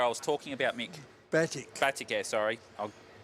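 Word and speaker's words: Batik Air: Oh, that's the Baltic Air I was talking about, Mick. Batik. Baltic Air, sorry. I'll pronounce it right.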